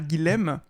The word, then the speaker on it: Guilhem: Mais pourquoi est-ce que c'est Guilhem et pas Guillaume? Bah, j'aurais tendance à découper le prénom, moi, en 2 syllabes.